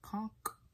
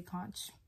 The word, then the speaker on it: conch: be piercing my conch i think it's pronounced like conk conk i i don't know i'm gonna say conch i know it's probably